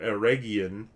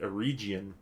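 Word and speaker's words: Eregion: names you know like for years i said uh or aragian the area just outside of moria i used to pronounce it a region because it's basically an e in front of region and no one you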